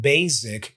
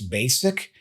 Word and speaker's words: basic: that you usually say the S is pronounced as an S so it's not buzzes it's buzzes it's not basic it's basic and it's not disappointed